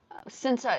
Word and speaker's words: Sinta: Sinta is the way you pronounce my name. It's from Indonesia.